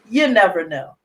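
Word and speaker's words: Y'Nevano: Well, Walley has informed me that the title of his book is called, and it's pronounced, You Never Know.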